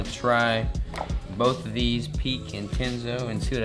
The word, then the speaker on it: Pique: So one of these is Pique, or P-I-Q-U-E. I guess it's pronouncing it right.